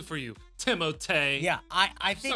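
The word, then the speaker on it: Timothée: think by the way everyone thinks it's Timothy because no one wants to actually pronounce his name but he his mother his real name is timot it is timot shalaman so I will pronounce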